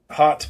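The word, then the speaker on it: haute: Yeah, I can I can talk a little bit about hot bikes. Um, it's spelled hot with the French word hot.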